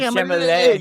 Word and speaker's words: Chalamet: That's how you say that's how you say his name. Chalamet. You got to go like that, too, with your hand up.